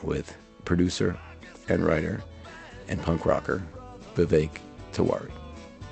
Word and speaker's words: Vivek: thank you for asking it's Vivek actually the vague okay yes yeah um my friends say you can bake of a vape cake so yeah rhymes with bacon cake yeah last game